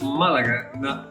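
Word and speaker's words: Málaga: bit about malaga and it is malaga because the accent is on the first egg malaga is a port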